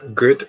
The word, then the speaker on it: gut: Like this, me in Germany, mir geht es gut. But this good is not G-O-O-D. Sounds like same pronunciation, like good and good.